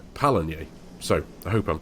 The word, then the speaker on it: Pallegney: But yeah, according to Google it's Pallegney.